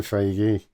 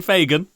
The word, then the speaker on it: Feige: I know it's Kevin Feige. Feige! Who? Kevin who? Kevin Fagan. Feige. Kevin Farage. He doesn't pronounce names what was that?